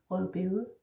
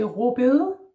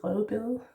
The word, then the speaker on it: rødbede: Here we actually do say it, rødbede. Some would say råbede. I might tend to do that myself, actually, råbede, but it's not, it's rødbede. But a lot of Danes say it a little differently, yeah, now you know.